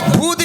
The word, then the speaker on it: ভৌত: ওই তো ভূত বিজ্ঞান। ভূত বিজ্ঞান নয়, বলো ভৌত বিজ্ঞান।